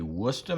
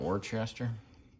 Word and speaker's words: Worcester: go with pronounce that it's actually Worcester Mass not Worchester don't ask me why